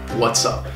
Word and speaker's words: What's up: So after we contract what's, the final S sound gets blended with the vowel sound in up. What's up?